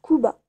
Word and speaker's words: Cuba: Du coup, mes montages, par exemple, mes deux amis youtubeurs, Coco Kuba, ça s'écrit Coco Cuba, mais ça se prononce Kuba, euh, et Ours Sauvage.